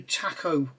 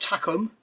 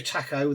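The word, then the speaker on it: Takom: got the brand new Taco on the way uh not tacum not tacum the kit manufacturer Taco the shap taco however you pronounce it and there's going to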